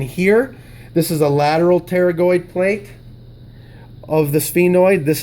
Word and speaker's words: pterygoid: two cavities so lateral pterygoid medial pterygoid medial pterygoid lateral pterygoid notice that p is silent it's not paranoid even